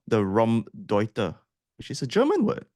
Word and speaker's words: Raumdeuter: I'm going to have at least 3 different pronunciations for this term. Let's stick to Raumdeuter.